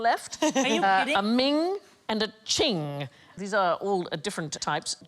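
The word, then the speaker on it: Qing: valuable vases ming yes queen well we will get there eventually it rhymes with bling thing thing i like thing most expensive chinese item ever sold at auction is a ching vaz it went for 43 million hands in 2010.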